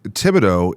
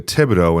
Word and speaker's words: Thibodeaux: Tibido is a Cinjun Louisiana family name.